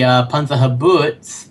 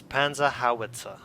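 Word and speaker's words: Panzerhaubitze: uh apparently for the panah habo two operators can load 60 shells and propelling charges in less than 12 minutes hold on hold on first of all it's panah hawit pronounce it correctly or going to punch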